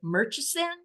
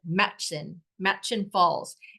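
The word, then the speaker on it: Murchison Falls: It looks like it's pronounced like Murchison, but it's not. It's simply like Matchin Falls.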